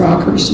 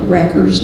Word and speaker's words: Rockers: And they let Mom choose, and she chose the Rockers Nagy. We called it Rockers, they call it Rackers now, but we pronounced it the German way.